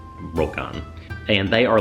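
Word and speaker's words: ryokan: Tokyo and Japan called roken ryo kan but it's pronounced roll con and they are like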